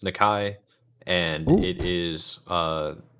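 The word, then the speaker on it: Nikkei: It is pronounced Nikai, and Ooh.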